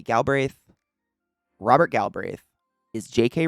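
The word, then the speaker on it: Galbraith: galbreth galbreth or galbreth I had a friend with that last name and they pronounced it galbreth but it might be gal braith Robert gal braith is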